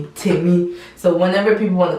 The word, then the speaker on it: Temi: It's Temi.